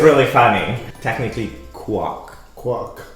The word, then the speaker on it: Quoc: So my middle name is Quoc, but everyone mispronounces it as. Idea port. They say, Mr. It's really funny. Technically, quack, Quack.